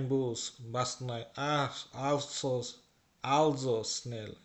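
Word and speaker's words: also: বাস নয় আহ আলসোস আলজোস স্নেল এটার উচ্চারণ কিন্তু অলসো না কিন্তু এটার উচ্চারণ হচ্ছে আলজো আলজো স্নেল স্নেল মানে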